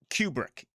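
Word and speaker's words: Kubrick: It was Stanley um uh Cubric, I believe, is how you pronounce his name.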